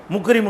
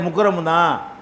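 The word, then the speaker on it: مكرم: இந்த பெயர் உள்ளவர நீங்க இப்படித்தான் வாசிக்கணும். முக்ரிமம் கிடையாது முக்கரம்தான். இப்படிங்கிற மாதிரி என்ன செய்வாங்க?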